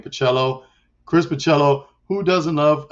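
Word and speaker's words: Bachalo: together in a book I'm there plus Chris bocello yep that's how you say his name pacello Chris michello who doesn't love a good Christmas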